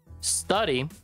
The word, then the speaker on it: study: tipito es de pronunciación study empieza con la s o sea el primer sonido es ten cuidado porque tenemos la tendencia a decir stud por qué Porque en el español es así so Keep that in